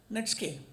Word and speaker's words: Netsuke: Spell it as Netsuke, pronounced netske.